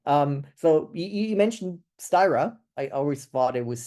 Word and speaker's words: Styra: all right cool um so you you mentioned styra I always thought it was sta to be honest but okay fair enough yeah no like the Swedish pronunciation would be sta which is uh so you're you're definitely right